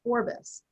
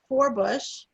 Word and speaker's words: Forbes: In Scotland at the time, it is thought they pronounced the name Forbes as Forbus, and you can imagine